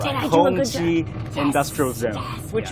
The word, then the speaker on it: Hongqi: And we are actually traveling through what this area is known for, which is the Hongqi automobile. You pronounce it right. Did I do a good Hongqi job?